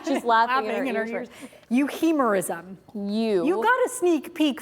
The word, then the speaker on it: euhemerism: Euhemerism. You got a sneak peek from Diane. The ironic thing is, I didn't hear her very well. Because I was shouting exactly. over it. Euhemerism.